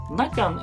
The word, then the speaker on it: Nagan: Nagan is a colloquial name for Nagant M1895 revolver, taken from its popular Russian pronunciation, lacking the final T.